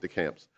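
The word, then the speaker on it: Descamps: Is it Deschamps? I've been saying DeCamps, but I could be wrong. Okay, DeCamps. Is this a candidate for that treatment?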